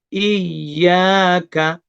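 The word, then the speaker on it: إِيَّاكَ: Iyyaka, ya-nya tasdid, ditekan, tapi tidak panjang. Iya, jadi enggak iya, tapi i ditekan. Iya, ya-nya panjang 2 harokat.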